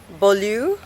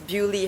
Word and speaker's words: Beaulieu: So I think in French, pardon my French, it's pronounced as Beaulieu house, but in England it's pronounced as Bewley house.